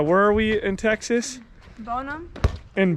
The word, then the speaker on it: Bonham: lake here uh where are we in texas bonum in boneham no such northern earth bonum yes bottom why